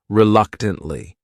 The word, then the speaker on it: reluctantly: The next word is reluctantly. This word has four syllables and the stress is on that second syllable. That third syllable also has that schwah reluctantly. Reluctantly.